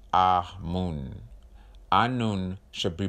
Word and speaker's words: Amun: Amun should be pronounced Ah-Mun.